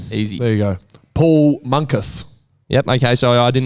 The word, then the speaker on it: Munkus: Paul Munkus. Yep. Okay. So I didn't know how you go about pronouncing Monkus, and tick that one off.